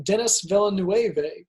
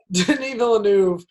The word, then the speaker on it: Denis Villeneuve: Runner 2049 denis villeneuve or as many people have mispronounced his name Dennis Villanueva Denis Villeneuve somehow made a sequel